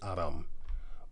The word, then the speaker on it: Aram: The people we Greeks call Syriac, they themselves call themselves Aram, or Arameans in English, but it's actually Aram.